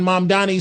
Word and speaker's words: Mamdani: In the debate, Cuomo was saying something, and Mamdani said, the name is Mamdani.